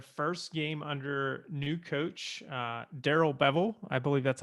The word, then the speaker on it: Darrell Bevell: All right, so the Detroit Lions win their first game under new coach Darrell Bevell. I believe that's how you pronounce his name.